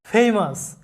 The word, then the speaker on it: famous: এরপরে দেখো OUS এর উচ্চারণ হয় আস, OUS একত্রে থাকলে কোনো শব্দে সেটার উচ্চারণটা হবে আস এরকম। যেমন উদাহরণস্বরূপ দেখো ফেমাস, FAMOUS ফেমাস, FAMOUS, এখানে